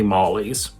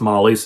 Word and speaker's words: Molly-es: How is the name pronounced? Well, I think most people just say Mollies. A few people will say Mollye S as if they're pronouncing the S in the possessive, but I think just Molly's is fine.